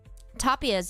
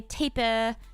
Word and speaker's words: tapir: Tapirs, yes. Is that how you pronounce it? I always pronounce it tapirs, but maybe many people say taper and tapir.